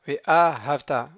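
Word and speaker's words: ואהבת: Ve'ahavta, donc là, ve'ahavta, on ralentit sur le aleph, ve'ahavta, parce que le mot, en fait, il est millera, c'est-à-dire qu'il va être oxyton. C'est la dernière syllabe qui va être accentuée.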